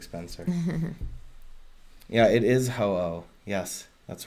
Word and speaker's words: Ho-Oh: Yeah, it is Ho-Oh. Yes, that's right. Yeah. Exactly, fluorescent potato, right? That's how you say it, ho-oh.